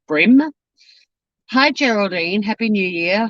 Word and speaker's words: Bream: are off to the brim creek farmers market brim is spelt like cream with a bee but it's like the fish it's pronounced brim hi geraldine happy new